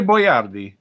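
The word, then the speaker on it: Boiardi: Ettore Boyardee.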